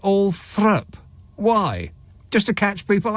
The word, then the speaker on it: Althorp: It's written all thrup. But it's pronounced... No, it's Althorpe, isn't it? Althorp. Correct. But they pronounce it Althrup.